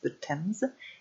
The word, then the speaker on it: Thames: C'est The Thames en anglais, même si ça s'écrit bizarrement, ça se prononce The Thames.